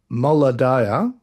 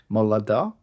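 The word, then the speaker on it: Moladah: Moladia. Molada.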